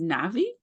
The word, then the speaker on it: Navi: Today's special guest is Navi. Is that how I pronounce her name?